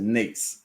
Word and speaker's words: NAICS: So NAICS code, I'm going to pronounce it NAICS.